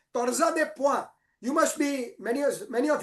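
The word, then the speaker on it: torsade de pointes: It is pronounced as torsa de point.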